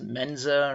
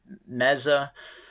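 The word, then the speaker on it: Maza: journalist named Carlos men's I believe this house last name is pronounced Menza or Meza who is a gay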